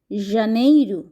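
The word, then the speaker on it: janeiro: আবারো বলছি mesh জানুয়ারিকে Portuguese ভাষায় বলা হয় জানেইরু জানেই ফেব্রুয়ারি ফেব্রুয়ারি কে পর্তুগিজ ভাষায় বলা হয়ে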